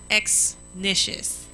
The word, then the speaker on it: Exnicious: It's actually pronounced exactly how it's spelled, but it's intimidating when you look at it because you've never seen it. Right. But when you look at it, it's pronounced just like it's spelled.